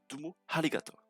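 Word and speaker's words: どうもありがとう: Merci beaucoup se prononce tout de même Dumo Harigato. Je répète. Dumo Harigato.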